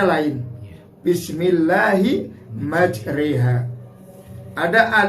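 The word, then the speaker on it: majraha: Ada ro yang di fathah tapi ternyata bacanya lain. Bismillahi majriha.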